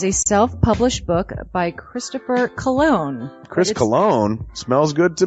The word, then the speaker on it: Colon: It is a self-published book by Christopher Cologne. Chris Cologne? Smells good to me. But look at her. That broke that fucking cold little exterior. He's like, hee. But it is spelled Colon. Him punny.